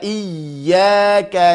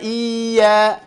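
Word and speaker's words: إياك: Jangan dibaca iyyaka na'budu wa iya. Ini ya maddiyah.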